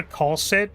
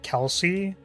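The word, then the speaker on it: Kal'tsit: So, I always called her Colit, but her name's pronounced like Kelsey, and that messes me up.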